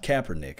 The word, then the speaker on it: Kaepernick: it's like really it's caper Nick but it's pronounced Kaepernick huh man this guy played 1 to 6